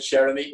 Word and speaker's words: Cheramie: We pronounce it Cheramie, which means like dear friend in French.